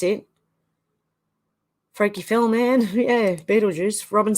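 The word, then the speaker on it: Betelgeuse: about a star called Bell to geese spelling but it's pronounced Beetlejuice oh Carol said yeah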